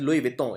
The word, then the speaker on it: Louis Vuitton: It's a French brand, luxury garments, luxury clothes, Louis Vuitton. It's pronounced as Louis Vuitton.